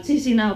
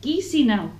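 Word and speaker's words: Chișinău: Sí, nosotros lo pronunciamos mal, Chisinau, pero no, es Chisinau.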